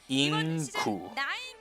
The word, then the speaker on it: Ing9: I will respectfully say his name correct. Ing-gu. Because 9 in Korean is gu, right? So that's how you actually pronounce it. It's pronounced Ing-gu.